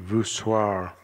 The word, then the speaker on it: voussoirs: Keystones and voussoirs, says it rhymes with bizarre.